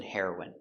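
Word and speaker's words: heroine: The pronunciation is the same. The drug heroin and the person heroin.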